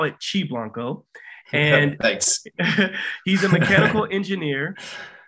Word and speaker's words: Qi Blanco: of a company called chi blanco i i pronounced it key blanco but we'll call it chi blanco and he's a mechanical engineer a natural biohacker